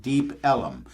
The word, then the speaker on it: Deep Ellum: There's a section in Dallas called, it's actually, people pronounce it Deep Ellum, but it's not Deep Ellum, it is the southern pronunciation of the word elm, where they just stick in another syllable, Ellum.